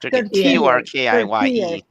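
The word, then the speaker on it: Türkiye: Turkiye.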